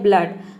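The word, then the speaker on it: blood: next word है ब्लड ब्लड में देखिए डबल ओ तो है लेकिन हम यहां पे डबल ओ को उ प्रोनाउंस नहीं कर रहे अ प्रोनाउंस करते हैं ब्लड में अब अ प्रोनाउंस करते हैं तभी इसका प्रोनंसिएशन होता है ब्लड ब्लड मतलब होता है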